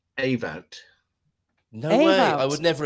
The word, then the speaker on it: Ewout: hey you but um it is pronounced a vote no no I would